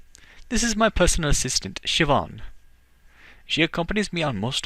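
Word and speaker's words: Siobhan: her name is pronounced Shian like that name looks like cobon but it's an Irish name and uh yeah has a weird pronunciation but it's sioban and so I'm giving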